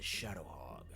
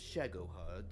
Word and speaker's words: Shagohod: You mean the Shadow Hog? Yes, well, it's pronounced Shagohod, but The Shadow Hog.